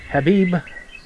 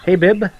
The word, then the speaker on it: Habib: Rada, Jackie Mott, Chris Habib. I have a lot of trouble with that name. I don't know why. I keep wanting to say Habib, like our negotiator in Lebanon, but they pronounce it Habib.